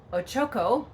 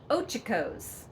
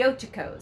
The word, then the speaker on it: Ochocos: actually, and the name of it is not Ochoko or Okoko, which I actually heard on the internet as a pronunciation, but it is called the Ochocos, or the Ochoko Mountains, the Ochocos.